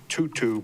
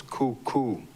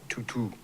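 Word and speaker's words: tūtū: So the um dictionary says it's uh usually pronounced tutu, but it um if anybody knows Hawaiian more better than me, it's um the t is pronounced k. So it's coo and not tutu.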